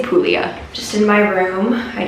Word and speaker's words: Puglia: I think I've been saying like Puglia with a G. There is a G in the word. However, I think it might be silent. So now I say Puglia.